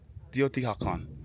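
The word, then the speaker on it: Teotihuacán: Teotihuacan. Teotihuacan is how you pronounce this place.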